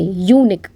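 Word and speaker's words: unique: लेकिन जब अपन इसको प्रोनाउंस करते हैं तो हम कैसे प्रोनाउंस करते हैं? वाई ओ यू से। यूनिक। तो यू प्रोनाउंस करते समय साउंड किसका आता है? कसोनेंट का।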